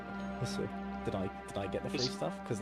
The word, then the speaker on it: HSR: It's pronounced Hussa. Hussa.